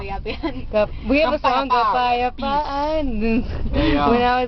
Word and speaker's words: kapayapaan: Oh, how do you say peace? Peace, Yeah. kapayapaan. Kampayatan. Kampayapa. Kapa, Kapa. ya, Yeah. pa, Pa. an. Oh shoot. That's it. Say it all together. Kapayapa. Kapayapaan.